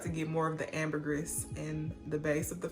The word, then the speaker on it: ambergris: almond it has saffron it has ambergris or amber grease i still don't know how to properly say that i looked it up and i saw it pronounced both ways you guys let me